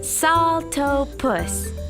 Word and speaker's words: Saltopus: Hiya, I'm Saltopus. That's pronounced Saltopus.